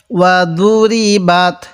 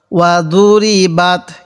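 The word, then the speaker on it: وَضُرِبَتْ: এই তায়ের সাথে বাত, ওয়া দুরি বাত। অনেকেই এই দরটাকে আমরা দাল উচ্চারণ করে থাকি, এটাকে দাল উচ্চারণ করব না। ওয়া দুরি বাত কীভাবে পড়ব? ওয়া দুরি বাত।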